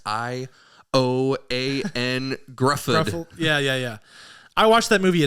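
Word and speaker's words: Ioan Gruffudd: And the guy's name who I can never pronounce. Ioan Grufford.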